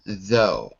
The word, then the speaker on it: though: in different ways and the GH can either be a f or it could be silent a f as in tough but silent as in though so that's why this